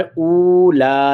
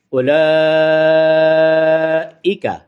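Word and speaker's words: أولئك: پڑھی نہیں جائے گی، یہاں پر اولا نہیں پڑھا جائے گا، بلکہ ایسے سمجھے کہ یہاں واو ہے ہی نہیں۔ اتنا لمبا کر سکتے ہیں، اولئک، ایکا، یعنی یہ عربی لہجہ ہے، البتہ ہمارے لہجے میں اولئیکا، ایکا ہے وہ بھی ٹھیک، لیکن وہ ہمارا پاکستانی لہجہ ہے، لیکن یہ عربی لہجہ ہے، تو عربی لہجے میں اس کو ایکا پڑھیں گے۔ اولئک علی، علی عین،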